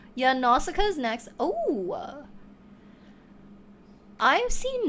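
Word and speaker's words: Nausicaä: At a glance, I was like, nausea. Girl, you know that's how I would pronounce it on the spot. Yeah, Nausicaa is next.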